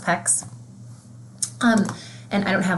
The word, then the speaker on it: PECS: So the other thing I wanted to just chime into is it's pronounced PECS, and I don't have like a sample.